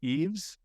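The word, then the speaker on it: Yves: for a little bit I believe you pronounced his name Eaves I'm almost positive eeves Nils uh Twitter is at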